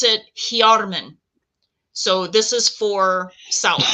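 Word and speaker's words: Hyarmen: So this is the Tengwar for south, and you pronounce it Hjarmen. So this is for south. We're going to intone that now. Hjarmen.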